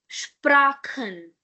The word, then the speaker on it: Sprachen: "Sprachen". "Sprachen". Okay? Before ch we have e. So, "Sprachen".